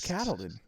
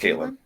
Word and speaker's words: Caitlin: I think it's Catalan. No, it's pronounced Caitlin.